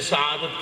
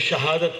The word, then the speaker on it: سعادت: وضاحت ضروری سمجھتا ہوں۔ لفظ سعادت کی پروناؤنسیشن، اس کے اچار اور تلفظ میں لوگ غلطی کرتے ہیں، کوئی شہادت کہتا ہے، اس وجہ سے